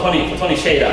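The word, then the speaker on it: Tony Hsieh: 이 자포스의 CEO 토니 쉐이라고 해요. 쉐이 발음을 정확히 해요.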